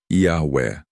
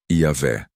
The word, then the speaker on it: Iahweh: A forma Jeová é bastante conhecida hoje, especialmente por causa das Testemunhas de Jeová. Porém, a maioria dos especialistas em hebraico bíblico concorda que essa provavelmente não era a pronúncia original. A forma que muitos estudiosos consideram mais próxima da pronúncia antiga é Iahweh, ou em português, Iavé.